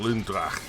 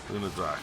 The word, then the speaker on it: Lunra: I could be calling Lundra, but it's Lunra, but she's got a Lunra.